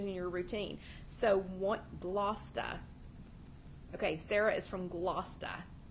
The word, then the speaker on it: Gloucester: Sarah and is it Gloucester I'm really trying to I'm really trying to learn how to say that Gloucester because here in Tennessee we pronounce that Gloucester which I understand is not correct anyway so welcome welcome